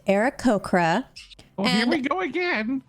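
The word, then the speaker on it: Aarakocra: well excuse me i'm an era cochran it's pronounced era cocra oh here we go again era cochrane yes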